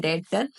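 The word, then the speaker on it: debtor: लिए क्या हो गया डेटर बी साइलेंट होता है इसे बोलते हैं डेटर हमें कितने लेने हैं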